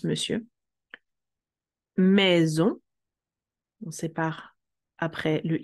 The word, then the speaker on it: monsieur: Monsieur, il se prononce monsieur.